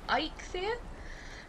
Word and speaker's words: Eikthyr: encounter in Valheim, which is, I'll try and pronounce it correctly, Eikthyr, which is basically a massive elk stag with